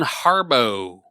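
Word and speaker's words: Harbou: Breen nailed it yep Thea Von Harbo oh like the gummies like the Haribo gummies very similar actually uh and and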